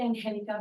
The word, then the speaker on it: Angelica: again is it Angel Angelica it's actually Angelica but Angel my husband said you think in hell then you know how to pronounce but I'm fine with Angel all right what is